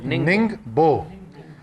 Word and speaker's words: Ningbo: سی pack کے لیے۔ NINGBO۔ میں نے آج ننگبو، اچھا میں آج کیانی صاحب میں بتا رہا ہوں صرف سپیلنگ نہیں، میں نے آج میٹنگ سے پہلے